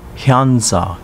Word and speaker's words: Henza: Henza, pronounced Hyanza in Uchinaguchi.